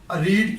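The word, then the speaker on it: read: Will have, रीड की third form रेड होती है, आपको अच्छी तरह पता है, स्पेलिंग सेम होते हैं, मगर इसकी जो प्रोनाउंसिएशन है वो रेड है।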